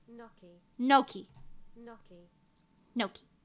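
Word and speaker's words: gnocchi: people are right no Noki no no the British people are right in Italian it says noi nooi I'm sure we're related in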